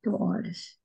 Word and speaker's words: horas: So the H, 8 horas. the horas, yeah, horas. There's never a h in Portuguese. There's no h. H sound is only in English or in other language. There's no h in Portuguese.